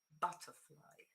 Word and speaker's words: butterfly: you that very often when you find a compound word, 99 point something of the times, the main stress is on the first word. Okay, butterfly. Okay, because it's the most important. Okay, so is this one butterfly. The rest goes down, and your stress is here.